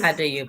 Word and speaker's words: Addo-Yobo: Our visitors are, tell me if I'm saying it right, Addo-Yobo? Is that okay? Addo-Yobo, yes.